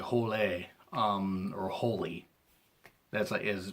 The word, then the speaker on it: Hole: the name is pronounced Harry Hole now it's more like holy or holy as is